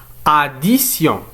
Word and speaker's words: addition: قلنا أن T ينطق بس إذا كان أمامه I متبوع ب une autre voyelle. كأمثلة لهذه الظاهرة لدينا addition.